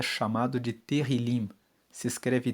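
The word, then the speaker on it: tehilim: Tanto que no hebraico, no texto original da Bíblia, o livro de Salmos, ele é chamado de terilim. Se escreve T E H I L I M.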